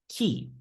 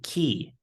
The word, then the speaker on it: key: However, many students sometimes pronounce it as k. It should be key like the bird turkey. The word key doesn't rhyme with the word hey.